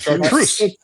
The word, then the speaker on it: Chartreuse: Chartreuse.